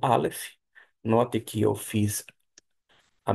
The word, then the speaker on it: alef: Você pode para decorar, a medida que você fizer a letra para a aprendizagem ou fixagem, você pronunciar alef.